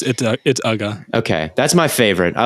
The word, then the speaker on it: Uga: I don't know how to pronounce Uga. It's just it's Ugga.